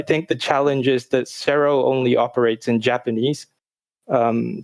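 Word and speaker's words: CERO: the japanese rating system is a organization called cerro it's spelled c-e-r-o whenever you release a game on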